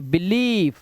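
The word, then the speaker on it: believe: पहले इसका उच्चारण लॉन्ग वाउल साउंड ई, जैसे देखिए बिलीव, ब्रीफ, फील्ड, बिलीव। यहां पर आप देख रहे हैं आई ई लगा हुआ है और आई का उच्चारण क्या है ई।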